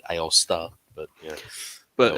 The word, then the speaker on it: Aosta: I I've always said Aosta myself. Um I don't know how else you would pronounce it differently, but unless you have enough flare on the last A at the end, Aosta.